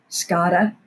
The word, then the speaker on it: SCADA: It's pronounced SCADA, yes, ma'am.